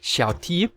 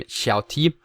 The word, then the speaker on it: xiaOt: for him but uh recently a Chinese YouTube user explained to me that Xiao basically means small which only leaves the uh T the leather T so it basically means small T and you know T is just pronounced T so I'm going to pronounce him Shia t for that reason and I'm going to